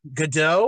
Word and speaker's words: Gadot: I mean, especially when you consider how Gal Gadot or Gad, I assume that's how you pronounce her last name. Gadot. Yeah, Gadot.